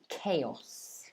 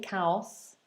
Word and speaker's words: chaos: complete disorder and mess chaos okay so be careful of that a sound all right don't say chaos say chaos chaos um it's the